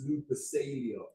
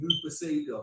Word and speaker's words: Lupercalia: Valentine's Day has murky origins, blending Roman pagan festivals like Lupercalia, a fertility celebration, the Christian martyrs. Hold on, it's Lupercalia. So you pronounce it, my bad. Yeah, Lupercalia.